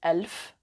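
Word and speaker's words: ألف: how you say 100 a thousand is elf and the plural is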